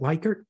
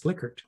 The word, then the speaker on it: Likert: And I know everyone wants to pronounce it Likert, but if you were to ask him, and he died long before I joined I4CP, he would say it's Likert.